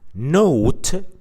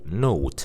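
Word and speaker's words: nought: You can say 0.7 or note 0.7. We talked about this word before, note, and we said that this is how the British pronounce the number 0.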